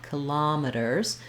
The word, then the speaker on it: kilometers: And then the first way we pronounce kilometers has the same rhythm as parameters. That's why I put those two together here for you, where the lam syllable is stressed. And there it has the ah vowel. So letter O is going to say ah, kilometers.